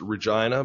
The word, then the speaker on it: Regina: It's actually pronounced Regina, but that's just the butt of way too many jokes.